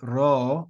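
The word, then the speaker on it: ρ: We then have the letter ro, which is like an R, but it's got that Spanish trilled sound to it, r.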